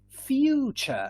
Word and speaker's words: future: Chips, choose, future. So notice that we've got a T and we pronounce it like a CH, yeah?